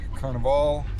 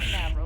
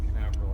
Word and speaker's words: Canaveral: It's out of uh Port Carnival, right? Is that how you say it? I don't know if that's how you say it, but yes. Port Canaveral.